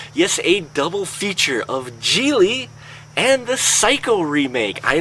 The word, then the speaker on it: Gigli: Okay, folks, first off, let's start off with Gigli. Yes, it rhymes with really.